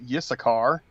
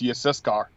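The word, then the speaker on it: Yissachar: hard i'm telling you like a lot of people get yes a car wrong it's yes car yeah that's what i said just syscard or didn't i say that yeah you said it right oh okay yeah but it's default like people say yes a car because they're used to hearing it anglicized and the sons of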